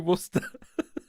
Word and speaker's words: Worcester: to ruin the theory Cameron um but we pronounce it Worcester sauce just just to throw another curveball at you it's actually Worcester anyway um so I've kind of roughed this